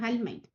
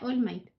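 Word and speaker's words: All Might: le gusta, que es Almight, o bueno, se pronuncia Allmight.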